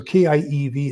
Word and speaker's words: Kiev: So K-I-E-V is Kiev. The V is almost pronounced like an F. I-E diphthong is E, just like we say chief, thief, relieve, belief. That's the same thing, I-E in Kiev.